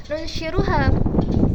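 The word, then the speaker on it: ننشرها: Nah, di situ ada dua qiraat pembacaan. Yang pertama adalah qiraat Asim dengan membaca nunshizuha, sedangkan qiraat yang lain, qiraat Nafi, ini membacanya nunshiruha.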